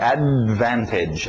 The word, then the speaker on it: advantage: Então, em inglês é assim, a gente engole esse D, não fala o D, right? Advantage, advantage.